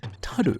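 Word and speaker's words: 樽: if you wanted the original japanese way of pronouncing it it would be taru so we have or taru meaning barrel in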